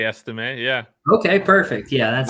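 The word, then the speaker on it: Estime: you say uh estim what how do you pronounce his name I say estim yeah okay perfect yeah that's I heard somebody say s time once and it made me question everything about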